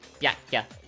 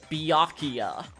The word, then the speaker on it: Byakuya: Oh yeah, also, like, everyone else, like, pronouncing Byakuya's name with 4 syllables, where if it was actually, like, read as Japanese, it would be 2. The Byakuya. Byakuya.